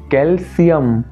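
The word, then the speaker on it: calcium: একচুয়ালটা হবে potassium, ক্যালসিয়াম, magnesium. অর্থাৎ যখন সিটা বলছো সিতে কিন্তু জোর দিতে হবে যেটা আমরা প্রায়ই দিয়ে থাকি না।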